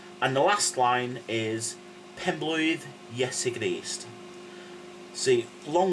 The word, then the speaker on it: Penblwydd: So, start off with pen, thing you're right with, pen, yeah? And then blwydd. Remember the double D thing at the end? If you've forgotten how to pronounce that, go back to lesson one, where I go through the alphabet, and it's th, yeah?